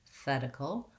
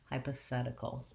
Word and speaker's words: hypothetical: the letter d because this is a flap t here which means that americans are going to pronounce that without using the t sound but rather like a light d sign sound hypothetical hypothetical um and then the